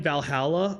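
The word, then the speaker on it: VA-11 HALL-A: It's part of the reason why I've actually been, I remember I tried playing Valhalla on here. It's spelled, what is it?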